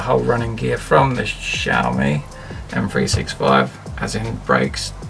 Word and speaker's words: Xiaomi: go with the the Xiaomi somebody messaged me on YouTube and said you saying it wrong it's actually Xiaomi is it's pronounced with an S not an X which it just doesn't